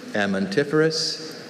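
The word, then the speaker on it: amentiferous: Amantiferous, amantiferous. That second syllable. Amantiferous. The schwa sound again.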